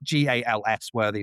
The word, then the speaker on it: Galsworthy: So if you just search for Galsworthy, it's spelled Gals Worthy, but I pronounce it Galsworthy.